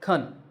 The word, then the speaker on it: can: grammar words for example this word is can this pronunciation is called the strong form but when we say it in a sentence we say khan that's the weak form and becomes un for